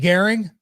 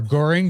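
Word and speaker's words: Göring: Fuck yeah, they get Goering or Goring, depending on how you want to pronounce it.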